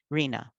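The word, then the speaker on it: RHNA: needs allocation and and often this acronym is uh pronounced rena you may have heard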